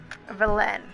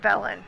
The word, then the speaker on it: Velen: and I wanted to finish up Velen, or Velen, that's how they say it. I want to say Velen, but it's Velen.